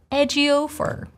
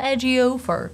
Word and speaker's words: Ejiofor: Can you pronounce it? I think you can. Chiwetel. Chiwetel. And then the last name, Ejiofor. Chiwetel Ejiofor.